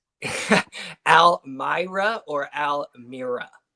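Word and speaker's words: Almere: Well, you got two pronunciations for the home team. Almy Myra or Almirra? Almy Myra.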